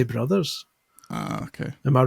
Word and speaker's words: Bros: going with different pronunciations the only one I draw a line at is Super Smash Bros and Super Mario Bros I you say Bross I would say Brothers okay am I wrong